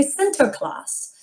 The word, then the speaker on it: Sinterklaas: we say santa claus well in the netherlands they say center class and they celebrate the